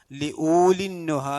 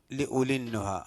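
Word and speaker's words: لِأُولِي النُّهَىٰ: ലി ഊലിന്നുഹ എന്നല്ല, ലി ഉലിന്നുഹ. അവിടെ ലാമ് സൈലൻ്റ് ആണ്, ഉച്ചരിക്കാൻ പാടില്ല. ലി ഉലിന്നുഹ.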